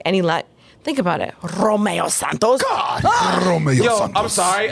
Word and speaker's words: Romeo Santos: Romeo Santos. Yo, I'm sorry. I just got turned on how you rolled your R. Like, most people don't say it right. And the way you just rolled that R, it's like, yes.